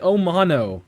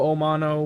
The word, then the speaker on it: Omono: the omano okay mono omano whatever you want to call it uh omano that's just what we're going to call it today or the Amano you know anyway uh it kind of rhymes with aano right uh we did review